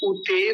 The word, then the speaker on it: उते: से पहला शब्द है उते दनी उते दानी सबसे पहला जो अक्षर है वो है उ हरस उकार छोटा उ तो जल्दी बोलेंगे कई बार बोलते क्या है उते दानी उते बड़ा